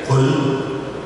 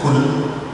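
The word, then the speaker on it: قل: Catatan yang perlu menjadi perhatian kita, ya, dari ucapan ayat yang ada harus betul-betul bisa dibedakan, mulai dari Qul pengucapannya, jangan Kul, tapi Qul dari rombongan.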